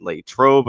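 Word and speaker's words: Latrobe: from my time in late Trobe. I'm finally saying that correctly after people uh continue to uh correct my pronunciation of that.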